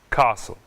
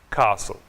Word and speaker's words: castle: Listen, Christmas, castle. Nessas palavras, não pronunciamos a letra T. Listen, Christmas, castle.